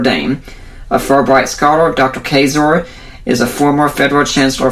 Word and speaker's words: Kaczor: Kaczor, whose name rhymes with razor, to talk about the issue of abortion.